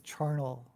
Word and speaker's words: charnel: And I think of Carnage, but I think it's Charnel House.